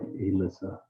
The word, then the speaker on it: Aylissa: And also her first name is spelled AYLISSA. So it's like Alyssa.